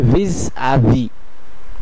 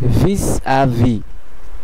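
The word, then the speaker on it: vis-à-vis: প্রথম এক্সপ্রেশনটি আমরা দেখতে পাচ্ছি, এটির উচ্চারণ হবে vis à vis, vis à vis, vis à vis, এবং বাংলা উচ্চারণটি হলো vis à vis, যার অর্থ মুখোমুখি।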